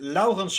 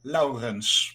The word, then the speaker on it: Laurens: I pronounce it Laurens. Like with the hard Dutch R, like Laurens.